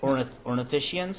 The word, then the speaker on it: Ornithischian: Ornithischians? Ornithischian. Okay.